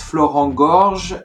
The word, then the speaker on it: Florent Gorges: I'm not good at pronunciation, so I will let him do it. So my name is Florent Georges and I live in France, and I'm actually a translator from Japanese to French.